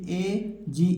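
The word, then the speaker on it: edge: जाएगा उसी प्रकार देखिए इसे ए जी ई पढ़ेंगे डी को छिपा लेना है एज एज माने क्या होता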